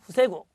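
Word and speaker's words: 防ぐ: 이것도 음독 중요합니다. 보우라고 읽는 거 체크하시면서 훈독은 후세구.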